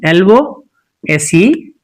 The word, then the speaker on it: lose: The pronunciation of this LOSE is lose, lose. So it is lose. But quite contrary to this, usually the learners or the speakers in English do pronounce this as lose. That's wrong.